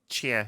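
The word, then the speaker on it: Tchia: Because that one trailer for, I believe you say the name Tachia. Yeah, is how you say that name. Chia, yeah.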